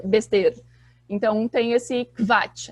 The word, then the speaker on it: Quatsch: Mas em alemão, em palavras em alemão, o QU, na verdade, tem som de como se fosse um KV. Então, por exemplo, eu vou escrever aqui no chat. Quatsch.